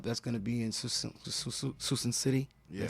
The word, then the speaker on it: Suisun City: That's going to be in Suisun City. Yeah. Did I say it right? Yep, Suisun City.